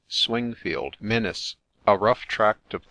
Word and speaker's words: Swingfield: Templar situate near swinfield swinfield or as it is now generally spelled and pronounced swingfield Menace a rough tract